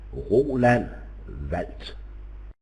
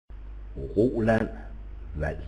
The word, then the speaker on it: Roland Wald: My name in Danish is pronounced Roland Wald. Roland Wald.